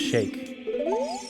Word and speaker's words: Sheik: Shake Shaka because like I think Sheik is actually pronounced Shake if I'm not mistaken that's how you're actually supposed to pronounce it oh yeah I'm done